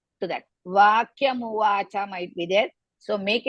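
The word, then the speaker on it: उवाच: You should not pronounce in the middle. Let us start beginning. Sanjaya uvacha.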